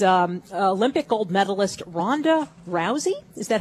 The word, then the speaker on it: Rousey: plywood Hut is um Olympic gold medalist Ronda Rousey is that how you say it yes it